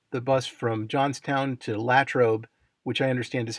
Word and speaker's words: Latrobe: I take the the bus from Johnstown to Latrobe which I understand is how it's pronounced not Latrobe like in the Rolling Rock commercials and from